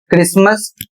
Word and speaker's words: Christmas: सी एच आर आई एस टी एम ए एस और इसे पढ़ा जाता है क्रिसमस।